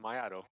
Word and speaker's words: Miato: But Miato? Is that how you pronounce that? Very close. It's Miato.